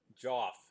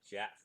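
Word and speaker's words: Geoff: But beyond that, uh, uh, Joff, that's the way I'm pronouncing it. I should pronounce it Jeff, but it's the old English spelling.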